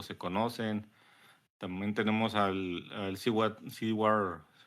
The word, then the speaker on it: Seward: También tenemos al Seward, pronuncia así, Seward Trainer, que es un experto genetista,